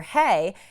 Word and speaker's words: He: meeting with this person got the name wrong of the vice vice Premiere this is vice Premier hay and she called him Vice Premier who let's look right now